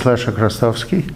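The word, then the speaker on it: Leszek Chrostowski: My name is Lesha Krastowski. It's spelled L-E-S-Z-E-K-C-H-R-O-S-T-O-W-S-K-I.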